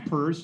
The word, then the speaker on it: Peirce: Yes, Gensler is the biggest problem, but Commissioner Peirce, looks like Pierce, pronounced Peirce on the SEC, she's very reasonable.